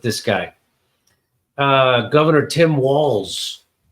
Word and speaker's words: Walz: guy uh Governor Tim walls walls is it sound like it should be spelled with two L's and S but it's not it's spelled with one L and onz Tim Walls so he tweeted this